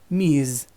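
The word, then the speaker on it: Ms.: you're going to use Me's it is pronounced with a Z at the end this consonant sounds different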